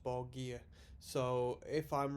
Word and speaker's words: Borgir: pronounced by dimu bogier i was very scared to call this band uh dimubagi in the last video purely as i didn't know how it's pronounced but someone a fortunate commenter said it's pronounced ball gear so if i'm wrong